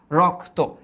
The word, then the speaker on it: রক্ত: রক্ত, রক্ত, এইটার উচ্চারণ কি? রক, এই যে রক, দ্য রক, তারপরে তো, রক্ত।